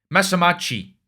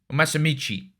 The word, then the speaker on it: Masamichi: me the third one mamachi masamichi sorry I've been pronouncing his name wrong right my guy sentenced